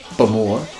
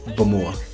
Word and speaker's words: Bowmore: Now, some people accent the second syllable, Bowmore, and other people do it on the first syllable, Bowmore. Either is acceptable. But if you go to the distillery, if you ask somebody at the distillery how they pronounce where they work, they would say Bowmore.